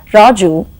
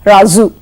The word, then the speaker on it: Raju: an individual you say Raju but you make it as razu so watch out friends and be careful we talked about this